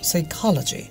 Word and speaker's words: psychology: যেমন ধরো সে খালাজি, আমরা বাংলাদেশের কি বলি, সাইকোলজি, সাইকোলজিয়া, But the pronunciation will be? Psychology. No, psychology.